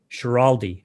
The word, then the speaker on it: Schiraldi: But we have Glenn Schiraldi, right?